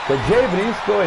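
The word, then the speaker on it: Jay Briscoe: Qui bisogna fare un po' attenzione, perché Jey Briscoe e Jey Uso si scrivono in maniera diversa, ma si pronunciano uguale.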